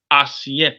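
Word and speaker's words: assiette: is clean okay now what is a plate as yet plate means as yet say as yet spelled a-s-s -i-e-t-t-e a-s-s -i-e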